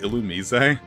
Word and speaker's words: Illumise: take on an illumise you know what Pokemon uh Battle Revolution they pronounce it illumise I spoke